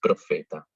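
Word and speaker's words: propheta: Luego podemos encontrar la PH en palabras que provienen del griego y que la vamos a pronunciar igual que la F. Así que si vemos esa palabra, decimos profeta.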